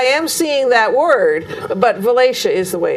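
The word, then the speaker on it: Valatie: that yes i am seeing that word but valacia is the way it's pronounced and you'll be at the uh falcon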